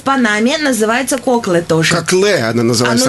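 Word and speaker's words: Coclé: Называется кокле тоже. Кокле она называется. Оно, наверное, ударение на последний слог.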